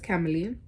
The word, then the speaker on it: Keily: My name is Keily. It's pronounced with Emily with a K.